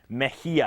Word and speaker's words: Mejia: minutes with Z meia I'm still pronouncing it right yes of course you said it was Spanish yes does it does